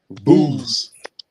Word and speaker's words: Buz: Booze. Booze. Strong's H 938. Booze. That is next level. Booze means contempt. Second son of Nahor, Abraham's nephew. Booz, the same as Buzz.